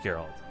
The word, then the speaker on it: Geralt: was in chat yesterday, he named himself after The Witcher, and in The Witcher it's pronounced Geralt.